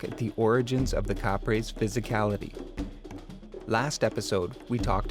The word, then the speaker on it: Kapre: Their phonological alteration pronounced it Kapre.